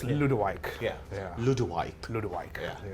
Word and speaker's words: Ludewyke: you can't pronounce it either. It's Ludewyke.